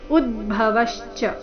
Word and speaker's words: ಉದ್ಭವಶ್ಚ: ಹರಶ್ಚಾಹಂ ಉದ್ಭವಶ್ಚ ಭವಿಷ್ಯತಾಂ ಉದ್ಭವಶ್ಚ ಈ ರೀತಿ ಅದನ್ನ ದೀರ್ಘ ಮಾಡಬಾರದು ಉದ್ಭವಶ್ಚ ಶಬ್ದದಲ್ಲಿ ನಾಲ್ಕು ಅಕ್ಷರ ರಸ್ವ ಇದೆ ಉದ್ಭವವಶ್ಚ ಭವಿಷ್ಯತಾಂ ಕೀರ್ತಿ